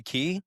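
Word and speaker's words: Cay: I know Disney, uh, they take you to their island, Castaway Key. That's another thing. It is spelled C A Y, but it is pronounced key.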